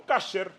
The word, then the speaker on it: kasher: Por ejemplo, la carne kosher o kasher, depende de cómo lo quieran pronunciar, es una cosa complicadísima para el judaísmo.